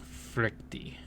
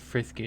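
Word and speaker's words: Frykte: Frykty. It's not frisky, it's frykty. F-R-Y-K-T-E.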